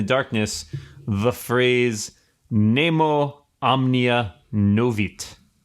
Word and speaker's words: novit: That's nobody, all, and I don't know what novit means. Wait, is it N-O-V-I-T? Ask your doctor if Novid is right for you. That's pronounced no-wit. V's in Latin are wuh, no-wit.